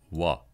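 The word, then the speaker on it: は: marked by the particle W which strangely is written actually with the character ha and yet as a special case pronounced W for this particle and what the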